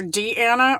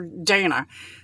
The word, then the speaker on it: Deanna: is deanna or donna it's d with the colon and then um a-n-n-a so you could pronounce it either d anna or dana she she uh prefers